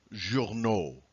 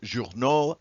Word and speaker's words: journaux: The word journal becomes journaux. Newspaper, newspapers. Animal becomes animaux. Animal becomes animals. All right? So notice that AUX is pronounced O, journal, journaux, animal, animaux.